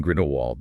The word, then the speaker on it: Grindelwald: Then we had the auditory revision, the W to V in Grindelwald, the silent T in